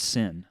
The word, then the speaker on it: Seine: Look it in France that's spelled Seine, but pronounced Seine.